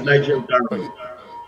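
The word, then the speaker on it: Nigel Dharamlall: by the Honorable Minister Nigel Dramalar, I think that's the name, but you could help me pronounce it properly. And while the public rather waited for justice, his name is Nigel Darma.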